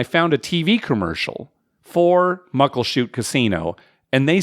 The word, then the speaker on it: Muckleshoot: Even though I grew up there, I also mispronounced the name for most of my life. It's actually Muckleshoot. Right? Muckleshoot. I like that even better. I know. It just looks like Muckleshoot.